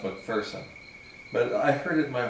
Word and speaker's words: McPherson: Technically, as is pointed out to me all the time when I run into people from Scotland, it's pronounced McPherson.